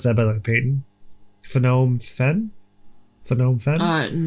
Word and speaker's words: Phnom Penh: Phnom Penh? Phnom Penh? No, because they wouldn't pronounce the N.